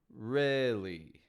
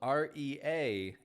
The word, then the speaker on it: really: few words that might fool you in the pronunciation. Really. Spelled R-E-A-L-L-Y, but pronounced I.